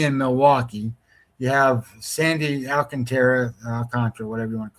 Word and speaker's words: Alcantara: You have Sandy Alcantara, whatever you want to call him. I always say Alcantara because that's how it's spelled.